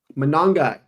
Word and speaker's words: Monangai: Monangai.